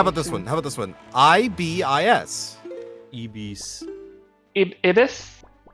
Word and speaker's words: Ibis: That would give you inference to the pronunciation. All right, how about this one? I-B-I-S. Ibis. Ibis? Ibis.